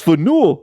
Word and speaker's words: Faneuil: No, it's Faneuil.